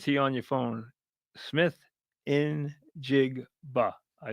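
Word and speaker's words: Smith-Njigba: So I have it phonetically spelled out. Smith injigba.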